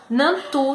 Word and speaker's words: Nantu: Nantu se escreve N-A-N-T-U, do jeito que se lê, Nantu.